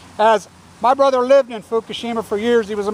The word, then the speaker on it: Fukushima: I've been told as my brother lived in Fukushima for years he was a model there and his wife told me the other day they pronounce it hukushima Hab you Hab try spinning